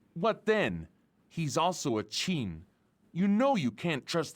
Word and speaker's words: Qin: But yeah, the one time when they were talking about the people of Qin, because Qin is pronounced Qin.